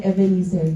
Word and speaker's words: Ebenezer: the stone after the battle and named it Evener and declared th far the Lord has helped me. So ngayon ang topic natin is evener. So lahat tayo ay ah tingnan natin kung ano ba yung evener.